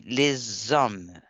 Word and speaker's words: les hommes: Comme on ne prononce pas, les H, c'est comme une voyelle en français, on ne prononce pas. Donc, on dit les hommes, oui, des métiers traditionnellement féminins.